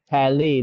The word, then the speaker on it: Palais: The Petit Pal- Palais. Palais, that's how they say it.